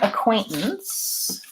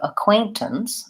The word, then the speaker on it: acquaintances: to say acquaintances so the word acquaintances sounds like a quaint since so I'm doing a mix of spelling and IPA symbols to help you so the stress is on the silt the middle syllable point and the first and last levels are short so acquaintances acquaintances and